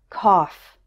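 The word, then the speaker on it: cough: words enough tough rough there's one word where it's pronounced off and that is the word Koff and finally it's pronounced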